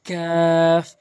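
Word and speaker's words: ق: সহকারে ওখানে পড়বেন তো কফটি হচ্ছে জিহ্বার গোড়া হতে উপরের তালু জিহ্বার গোড়ার স্থানটি উপরের তালুর সঙ্গে লাগাবেন ধাক্কা দিয়ে কফ কফ এভাবে উচ্চারণ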